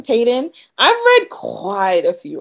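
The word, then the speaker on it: Taiden: by millie um tayden i want to say her name is t-a-i-d-e-n tayden i've read quite a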